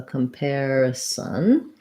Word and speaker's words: comparison: So comparison, here we have the letters AR and the air diphthong. So, and in comparison, the pair syllable is stressed. So comparison.